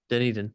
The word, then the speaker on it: Dunedin: Dunedin. Is that how you pronounce it? Dunedin.